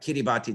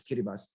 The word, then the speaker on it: Kiribati: in kiribati and um or it looks like kiribati the way they spell it but it's kiribati these three island groups